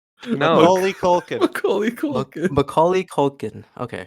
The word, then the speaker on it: Macaulay Culkin: since McClunky Cookin. Yeah, that one really threw us. How do you say his name? No. Macaulay Culkin.